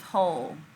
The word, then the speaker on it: whole: next word is whole what sound do you hear in whole short o or long o whole if you agree if you guessed long o you guessed correctly you guess correctly so we're in our second or third groups then i look at the patterns well that w h is making that one consonant sound so you line yourself